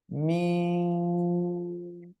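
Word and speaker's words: ميم: এই দুই ঠোঁটের শুকনো জায়গা, ঠিক আছে? ডাইরেক্ট আবার জন্য এমন বলবেন না, মিম এরকম বলবেন না, সিম্পল ঠোঁট রাখেন। মিম, মিম এভাবে উচ্চারণ করেন।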